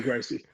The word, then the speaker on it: Gracie: of today I'm gonna go with the straight Brazilian way of saying I'm gonna go Shan hee-hee yeah what'd you grossie and I'm just gonna